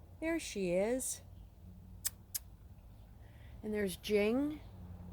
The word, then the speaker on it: Jing: And there's Jing. And that's spelled J-I-N-G, short for Jingles, but Jing.